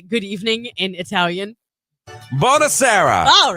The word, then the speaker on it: Buonasera: Buonasera.